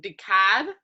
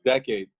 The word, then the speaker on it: Dekad: time I've been saying de cab no it's actually actually a play on play on words it's called it's pronounced decades we spell it the phonetic way so it can have